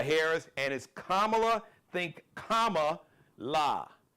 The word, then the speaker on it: Kamala: vice president kamla Harris and is kamla think Kama La K La not Camila not camela because some of y'all be on some racist